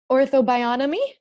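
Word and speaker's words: Ortho-Bionomy: lot of ways yeah are you still doing Ortho bionomy did I say it right yeah you did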